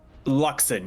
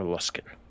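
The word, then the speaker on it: Luskan: Luxon, yes. Sorry. Or Luskin, is how it's pronounced, I guess.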